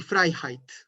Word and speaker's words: Freiheit: y fright la libertad yo no diría y frei height y frame rate sino que discutí freiheit hay ese es el así es como se pronuncia este lector frye heights hay como la palabra driver otra cosa aquí que